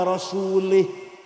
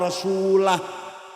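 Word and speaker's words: وَرَسُولُهُ: Wa annallaha bari'um minal musyrikina wa rasulih. Allah tidak melindungi orang musyrik dan tidak melindungi Rasulullah. Salah. Karena baca wa rasulih. Yang benar bacanya wa annallaha bari'um minal musyrikina wa rasulah.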